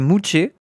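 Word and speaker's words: muxe: 3è sexe des modes Mux se prononcer mouché. Ah ça se dit mouché. Je savais pas que ça se disait mouché.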